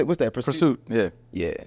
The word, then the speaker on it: PRST: Pursuit.